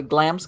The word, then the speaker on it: Glamis: it the wrong way glam's castle in scotland i that somebody told me no it's not glamorous it's glams and i'm like yeah g-l-a-m-m-i-s